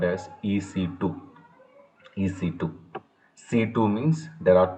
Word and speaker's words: EC2: we called as ec2 it's not ec square it is a ec2 some people are wrongly